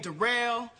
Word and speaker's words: Derell: yeah uh my name derell it's spelled like but it's pronounced derell uh yeah I just